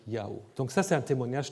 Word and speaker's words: Yahweh: La traduction de la Torah en grec, il y avait encore le savoir que le nom du Dieu biblique peut donc se dire Yahweh.